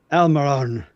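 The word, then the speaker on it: Almirón: I say his name very phonetically. U.S. phonetics, right? I don't roll my R's or whatever, but Almiron.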